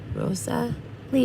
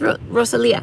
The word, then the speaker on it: Roselia: roselia roselia oh god now I said her name wrong Rosa Rosa Lea wrote Rosa Lee yeah I'm totally screwing up sorry I'm so sorry she like corrected me it's ro ro Selia yeah anyway she did